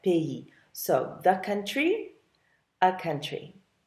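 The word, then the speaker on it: pays: is a bit strange even though it's spelled p a y s you do pronounce it like that PE so the country a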